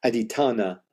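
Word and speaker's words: adhiṭṭhāna: Aditthanna. I did the accent on the A. Aditthanna, which is one of the 10 perfections or paramis in Buddhism.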